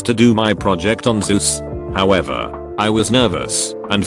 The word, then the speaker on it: Zeus: presentation a kid asked you to know it's pronounced zeus right jesus christ i'm dead i was taking